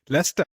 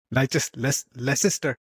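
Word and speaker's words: Leicester: Lester. Lester. Lester. Leester.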